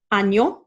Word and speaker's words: año: So we're going to say año.